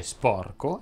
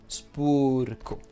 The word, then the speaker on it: sporco: Ebbene, si dice freddo e non freddo, si dice sposo e non spuso, e si dice sporco e non spurco.